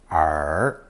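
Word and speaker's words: 耳: simply a stylized version of the human ear pronounced r the common expression for ear is adding the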